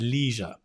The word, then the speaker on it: leisure: word eli i planted leisure right the podcast i was listening to it said leisure our leisure time and i thought leisure and of course i realized it was the american pronunciation of course yeah you